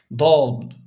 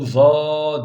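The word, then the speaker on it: ض: oradaki da diye okuruz Kimileri onu za diye okuyor öyle değil yanlış Çünkü Arapların hiçbir bölgesinde za diye okunmadı zaten za diye bir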